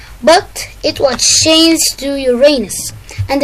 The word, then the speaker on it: Uranus: But it was changed to Uranus, and the pronunciations are Uranus, like scientists, Uranus, like we say it, and Uranus after the Greek god.